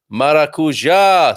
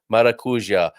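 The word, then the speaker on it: maracujá: people are loving this maracuja sorry i really i clipped my vowels there didn't i maracuja thank you very much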